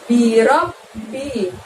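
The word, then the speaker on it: بِرَبِّ: Lalu berikutnya ada lafadz birobbi. Pada huruf ba di situ ada tasydidnya, maka B-nya bunyi B harus double ya teman-teman, dan cara membacanya harus ditekan dan ditahan. Birob bisa ditahan selama 2 ketukan seperti itu.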